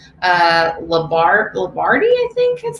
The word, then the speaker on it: Lombardi: Lombardi, I think is how it's pronounced.